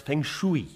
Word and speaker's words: Feng Shui: Deviation, it's pronounced Feng Shui.